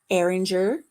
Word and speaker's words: Eringer: hello jennifer welcome in eringer rhymes with danger air ranger arranger anger